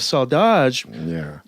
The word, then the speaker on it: saudade: Well, I wanted to ask you about this theme that is very common through bossa nova, saudade. Did I pronounce that right?